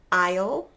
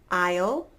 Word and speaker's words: isle: the silent s and the silent s I'm only going to give you two words but they're pretty common words if you like to travel so we have Isle and island again Isle Island perfect alright only a couple